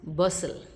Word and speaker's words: bustle: It is silent in words like castle, Christmas, bustle.